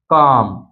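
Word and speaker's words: calm: silent रहता है जैसे काम पाम आमंड तो इन सभी में आप देख सकते हैं एम से पहले आया इसलिए एल साइलेंट है सीधा पढ़ा गया है कॉम इसी तरह है इसी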